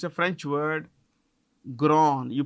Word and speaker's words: Grand: I'm not this is gr how do you pronounce it grown it's a French word grown you pronounce it at grown okay yeah I